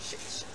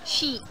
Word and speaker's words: sheet: How to pronounce shit?